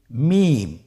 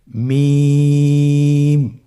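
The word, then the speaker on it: ميم: মিম। মিম হরফটি উচ্চারণের ক্ষেত্রে অবশ্যই বারিক হবে, পাতলা হবে এবং তিন আলিফ টেনে উচ্চারণ করতে হবে। আমার সাথে আরেকবার চেষ্টা করুন। মিম। আবার বলুন মিম।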